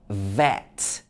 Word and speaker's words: vet: lip like this so it's in words like vet as opposed to wet what is actually a